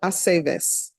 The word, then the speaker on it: Aceves: It's always ve. Ve, Aceves.